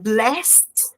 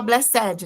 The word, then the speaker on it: blessed: O brasileiro tem mania de falar blessedad, né? Mas não é blessed, é blessed. Blessed, como se tivesse um tezinho aí no final.